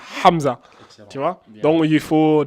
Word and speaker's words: Hamza: un H mu mais dans la langue arabe on le prononce bien il s'appelle Hamza Hamza tu vois donc il